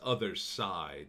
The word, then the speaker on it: Othercide: okay it's weird name other side like sooo it's spelled you know see IDE like homicide or suicide but it's other side like I guess it's